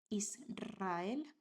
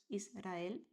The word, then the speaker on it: Israel: So those keywords are Israel, al alrededor, and Enrique. So this is after S, after L, and after N. After these consonants, you write only one R, but this is pronounced like a strong one. Israel, not Israel. Alrededor, not alrededor. And Enrique, not Enrique.